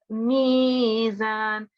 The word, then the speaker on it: ميزان: And then on the next verse, it's mizan. You have to prolong because it's a madda. You have to prolong for about 2 seconds for this one.